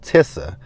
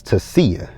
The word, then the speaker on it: Tasia: It looked like it's spelled Tissa, but it's Tasia.